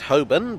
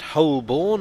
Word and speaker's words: Holborn: I pronounce it Holborn, but I've also heard it pronounced Holborn and Holborn.